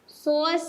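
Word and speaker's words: psoas: Next হচ্ছে সোয়াস sign. এটা পি আছে, কিন্তু এটার প্রনাউন্সিয়েশনটা কিন্তু সোয়াস, পিটা এখানে সাইলেন্ট, ঠিক আছে।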